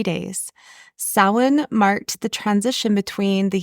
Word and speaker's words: Samhain: According to Hilary Smith, writing for the World History Encyclopedia, Samhain, it's spelled Samhain, which people who don't know would usually pronounce Samhain, right?